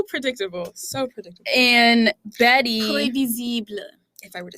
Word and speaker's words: prévisible: Prévisible. If I were to say, what does that mean in French? It means predictable. Yeah. Predictable. It's basically like imagine the word Spanish? previsible, but it's pronounced prévisible.